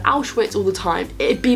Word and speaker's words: Auschwitz: cool something out with obviously they do meet outwits that obviously to kind of emphasize that vulnerability of them they make them pronounce it wrong I thought like if they got the kids to be like Auschwitz all the time it'd be a bit more